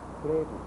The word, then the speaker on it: Frevo: Samba, the Bayou, Maracatu, and now, Frevo, can I pronounce that correctly?